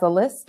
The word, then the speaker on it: a11y: screen right now so this is pronounces Ali and you might be familiar with it if you've ever heard of i18n because they're both alphanumeric acronyms this means that the letter between